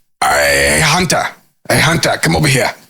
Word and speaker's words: Hunter: Hunter and uh and I never heard anyone pronounce my name with the T you know in the